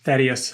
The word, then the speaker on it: Thaddeus: Thaddeus. Thaddeus, of course. Is the proper pronunciation.